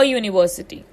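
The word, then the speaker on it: university: अब यू ना vowel letter से शुरू होता है लेकिन साउंड कॉन्सोनेंट करता है, तो इसमें क्या लगेगा, अ यूनिवर्सिटी। अ यूनिवर्सिटी। यू यानी य, वाई से स्टार्ट कर रहा है ना इसका कॉन्सोनेंट। अगर आप इसे सुनोगे तो ऐसा लगता है हम व से बात कर रहे हैं। यूनिवर्सिटी है ना, तो इसके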